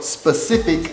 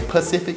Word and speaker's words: specific: But when I'm talking, because I'm country, I might say Pacific, but it's specific. There's an S in it, S-P, specific, say it with me, specific.